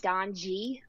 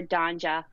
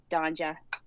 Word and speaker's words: Donje: my name so um i get don g a lot because it's d-o-n-j-e yeah um so never donja which is how it's actually